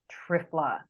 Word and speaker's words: triphala: my favorite things is an ayurvedic herb called trifla and that's spelled t-r-i-p-h-a-l-a and it's made of three berries